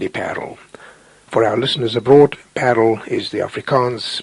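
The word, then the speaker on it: Paarl: playing ruis FY parel for our listeners abroad parle is the Africans pronunciation of the Charming Town pal not far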